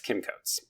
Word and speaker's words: Kim Coates: And I definitely said that name wrong. It's Kim Coates.